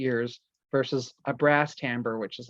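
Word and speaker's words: timbre: tamber I should say this word t m b r e is pronounced tamber um and it just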